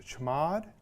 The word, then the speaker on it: chmod: And the command that we're going to use for that is called, well, it's pronounced chmod, but it's really just short for change mode.